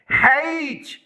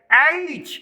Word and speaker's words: H: کچھ ایسے کرتے ہیں۔ ہیچ جو کہ غلط پروننسیشن ہے، یہ غلط تلفظ ہے، انکریکٹ پروننسیشن، ہیچ کریکٹ پروننسیشن، یہ تلفظ جو ہے یہ بالکل درست ہے۔ ایچ اس کو آپ نے ایچ پڑھنا ہے نہ کہ ہیچ۔ The letter H, unlike